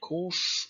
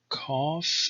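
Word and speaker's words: kaph: Alright, so the next letter is called kof or kaf in East Syriac, or probably kab.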